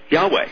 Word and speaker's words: Yahweh: that doubts that the yod vah yhwh is pronounced Yahweh when you talk to fellow Christians Craig do